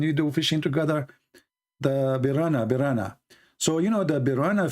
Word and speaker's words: piranha: It's piranha, not birena.